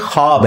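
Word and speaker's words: خواب: खवा वाव अलिफ बा लेकिन पढ़ने में ये ख्वाब है वाओ साइलेंट हो जाता है ख्वाब पढ़ा जाता है ये लफ्ज उर्दू में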